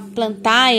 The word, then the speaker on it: Plantae: A gente fala Plantae, apesar que é escrita com ditongo AE, Na pronúncia, se pronuncia air, plantae.